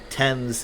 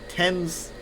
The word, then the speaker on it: Thames: explaining to me how Thames is said, like the river that goes through London. Because I'm like, it's like Thames. I forgot who that was. I was like, how is it Thames? It's like, it's spelled like James.